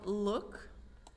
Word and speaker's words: look: Então, look, que se pronuncia L-U-K, basicamente. Look, quando tem dois O's juntos, você pronuncia como um U.